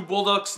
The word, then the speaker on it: Bolduc: in seeing what Drew Bolduc's next film is going to be. I'm probably pronouncing it like Bulldog, but it's B-O-L-D-U-C, so Bolduc.